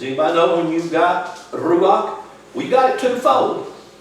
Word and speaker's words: ruach: Say, ruach. You have to roll your R.